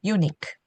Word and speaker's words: eunuchs: unique, 크 발음이 됩니다. unique. 복수 형태 unique.